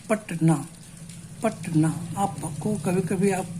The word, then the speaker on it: पटना: पटना, you pronounce पटना इन डायसिलेबिक वे, इन 2 breaks, in 2 strokes. तो पटना, आप क्या इसको उच्चारण तो ऐसे नहीं करते हैं, हम करते हैं पट और ना, दिस वे।